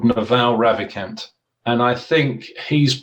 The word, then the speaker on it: Naval: naval n-a-v-a-l but it's naval it's an indian it's like royal navy but it's naval because it's a long v because of the india sorry it's a long a at the end i'm very careful who